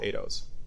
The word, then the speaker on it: Eidos: So at Penn, I have started a university-wide initiative called Eidos or Eidos, depending on how you wanna pronounce.